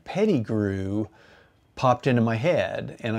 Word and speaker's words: Peddigrew: And so Dane Peddigrew popped into my head and I thought, I'm gonna do these quotes and make the quotes from a imaginary guy named Dane Peddigrew.